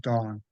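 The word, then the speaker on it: Tung: So there there's a an an acupuncturist named Master Dong, UNG, but pronounced Dong.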